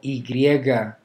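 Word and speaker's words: i griega: Letter Y, it's called ygriega. It's pronounced e.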